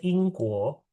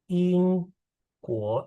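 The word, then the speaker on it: 英国: Negara Inggris itu bacanya Ingguo. Ingguo, Inggris.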